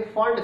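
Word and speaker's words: Pfund: फंड का P silent है इसलिए इसे हम पफंड भी बोल देते हैं, लेकिन हमने स्पेलिंग रखने यार इसलिए पफंड बोलते हैं, कोई बात नहीं, लेकिन फंड सीरीज कहते हैं, ठीक है।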